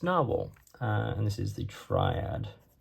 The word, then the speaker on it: Nahvalur: Let's do a quick writing sample now with the Narwhal. They changed the spelling a few years ago. This is a more traditional spelling, but apparently it's still pronounced Narwhal.